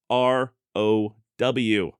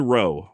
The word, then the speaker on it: row: R-O-W. I said row, which would have been correct if somebody was rowing a boat.